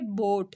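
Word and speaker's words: boat: sound है ठीक है बोट इसमें हम ए को साइलेंट कर रहे हैं बोट उसके बाद यू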